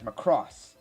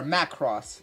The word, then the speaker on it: Macross: original Matt series was known as Macross or Matt cross depending on how you pronounce it but Matt cross was